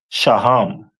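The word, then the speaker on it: שֹׁהַם: And then we move over to the stone that represent them is a onyx which is pronounced in the Hebrew as shaham most high Christ.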